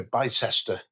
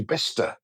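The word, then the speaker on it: Bicester: I heard someone recently uh refer to to to BCester. Oh dear. Which is obviously best.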